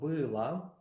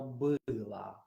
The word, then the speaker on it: было: You remember that o in a syllable that is not stressed is pronounced like a.